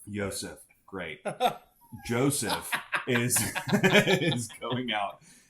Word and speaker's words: Joseph: I think it's pronounced Yosef. Yosef, great.